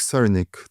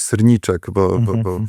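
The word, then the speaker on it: Srnicek: Technofeudalizm, kapitalizm platform, to jest autorem jest Nick Cernick, tak się go wymawia, chociaż ja słyszałem i bardzo lubię to Nick Cerniczek, bo tak to nazwisko się pisze.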